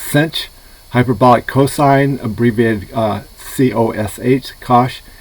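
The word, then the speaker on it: sinh: uh hyperbolic functions section 6.9 uh hyperbolic functions include the hyperbolic sine abbreviated s-i-n-h pronounced cinch hyperbolic cosine abbreviated uh c-o-s-h etc they get their name from the identity cos squared minus inch squared equals 1.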